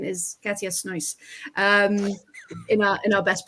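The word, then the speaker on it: Katja Snoeijs: watching the Everton match, and the commentator's like, Katja's nice. And Georgie went, is he saying that's nice? And I'm like, no. Her name is Katja Snois.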